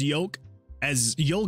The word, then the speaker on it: yolk: I pronounce yolk as yolk, so the pun works for me. Oh, so you don't pronounce the L in yolk, huh?